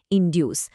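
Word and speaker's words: induce: উচ্চারণেও একটা পার্থক্য আছে। একটাতে স এর মতো সাউন্ড ইনডিউস, আর অন্যটাতে ক এর মতো সাউন্ড ইনডাক্ট।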